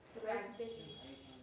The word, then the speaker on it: raspberries: Raspberries. P silent.